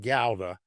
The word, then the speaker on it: Gouda: Now, you pronounce it Gouda. That's the proper way to say it, not Gouda. Most of us say Gouda. But Gouda is the right way. If you say it like a true person from the area, it's more like Khowda. Like Gouda.